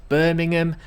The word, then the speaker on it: Birmingham: It's pronounced Birmingham, not Birmingham.